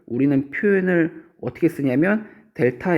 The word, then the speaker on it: 델타: 세모와 이라고 하는데 이건 우리가 어떻게 있냐면 요 델타 라고 읽어요 어떻게 있느냐 를 다이 델타는 무엇이냐면 으